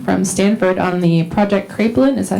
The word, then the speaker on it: Kraepelin: All right, next we have Nate Stockham from Stanford on the Project Kraepelin.